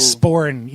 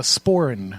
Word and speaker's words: sporran: So I'll be wearing Good my old- sporin, which is the Yeah. fanny pack, Right. this Celtic Oh, yeah, fanny yeah. pack. Yeah, right. A sporn? It's called a sporin.